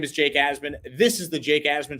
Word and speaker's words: Asman: it's just my name asman it's pronounced as as in a z and then min m-i-n i want to thank